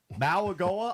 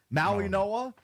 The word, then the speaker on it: Mauigoa: I didn't know this is how you pronounce his name. I thought it was Maualuga up until yesterday. Apparently, it's Mauigoa.